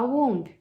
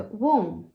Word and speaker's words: womb: Nunca mais você vai falar womb. É womb. E nunca mais você vai falar name. É name. Beleza? Essa é a importância de estudar silent letters, pessoal.